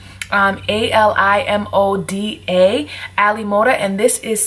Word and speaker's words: AliModa: an AliExpress hair company called I believe it's pronounced Ali Moda um a l i m o d a Ali Moda and this is some virgin Brazilian